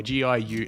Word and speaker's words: Giuffre: It's spelled the French fucking way. G-I-U-F-F-R-E. But it's Giuffre. Guffrey or Giuffre or Virginia Giuffre.